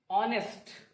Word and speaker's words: honest: The next, honest. Okay. Here also H is silent. H is not pronounced.